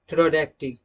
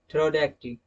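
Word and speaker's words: pterodactyl: P is silent when a word begins with ps, pn, pt। Okay, अगर किसी word की शुरुआत ps, pn, pt से होती है तो वहां पर p को साइलेंट रखा जाता है।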